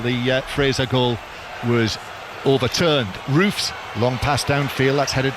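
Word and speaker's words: Roefs: Robin Rofs or Robin Roofs as uh the pronunciation that that was you should stick with that one.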